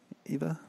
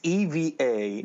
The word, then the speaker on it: Eva: V a yeah and people call it Ava all the time in Spanish like Ava is I guess how you pronounce it but you're you're my English accent now it's it's Eva its it's Eva and